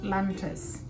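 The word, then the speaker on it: Lantus: been using it called lantas see lantas is spelled with uh L A N T us s lantis okay that is for the night this is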